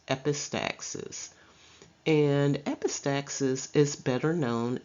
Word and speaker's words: epistaxis: system such as the term epistaxis it is pronounced epistaxis and epistaxis is better known as a nosebleed